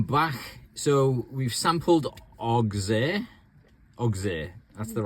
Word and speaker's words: Auxerre: In the meantime, we might spend 2 hours in Auxerre and enjoy the local facilities.